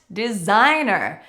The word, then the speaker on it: designer: We really mute that first tea that comes after the N Dentist next designer this one is not too difficult But we have to remember that the G is silent Designer next doctor or physician This is not such a difficult one to pronounce.